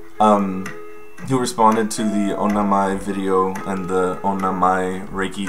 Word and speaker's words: Onna-mai: For correct pronunciation. Who responded to the Onna-mai video and the Onna-mai Reiki current and asked me for attunements.